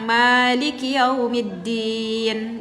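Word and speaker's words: مَالِكِ: ya Oke siap ee di dalam surat al-fatihah kita membaca Maliki yaumiddin gitu ya kak ya kita bacanya dua harakat maiki yaumiddin sedangkan kalau di dalam surah Annas juga ada lafaz Maliki tetapi mimnya kita pendekkan malikinas mungkin Kakak berkata Loh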